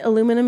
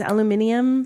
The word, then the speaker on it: aluminium: Like aluminum is aluminium.